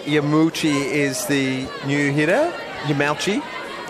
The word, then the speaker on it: Yamauchi: Yamauchi. Got the thumbs up on the pronunciation.